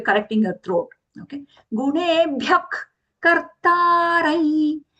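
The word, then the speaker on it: कर्तारं: Gunebhyak kartarai. Kartarai, the anuswara nasal ya sound because it is followed by the letter ya.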